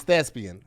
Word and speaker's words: thespian: I said being like lesbian, and it's thespian with a Wait, P.